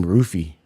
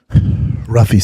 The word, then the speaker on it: Ruffy: I think they pronounce his name Roofy. Ruffy sounds cooler.